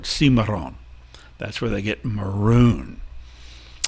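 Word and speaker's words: cimarrón: called maroons as well maroon is the english sort of attempt to pronounce the spanish word simaron that's where they get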